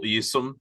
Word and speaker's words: Eassom: This is Eassom.